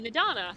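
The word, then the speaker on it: Nidhana: Okay, Nidana. See, the H is silent.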